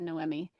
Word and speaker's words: Noemi: Noemi is like the Latina version of Naomi. I've had a student named Noemi.